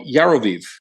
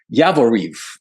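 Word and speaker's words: Yavoriv: at a base called yaroviv um excuse me yavariv i always mix up the pronounce y-a-v-o-r-i it's a little town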